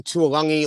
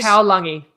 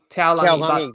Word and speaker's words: Taulagi: We've got, I don't know about the pronunciation, Tuolangi or Tuolagi from the Cowboys. I say Taulagi. Taulagi, there you go. Yeah. I gave you 2 options and it wasn't either one of them.